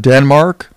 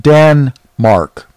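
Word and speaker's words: Danmark: Matter of fact, have you heard of Denmark? Well, that's not how they pronounce it. They pronounce it Dan-mark, the mark of Dan.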